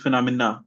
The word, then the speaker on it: phenomena: So nom is the one with the main stress. So phenomenon of sorry this is phenomena sorry phenomena phenomena or